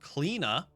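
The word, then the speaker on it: Cliodhna: Let's start with Kleena.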